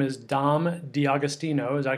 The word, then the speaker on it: D'Agostino: introduce our special guest his name is dom d'agostino as i pronounce that correct that's right all right okay